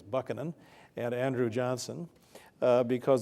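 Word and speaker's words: Buchanan: Harding and Ulissiz Grant usually on grounds of their presidencies were notoriously corrupt and James I believe the correct pronunciation actually is Buckan and Andrew Johnson uh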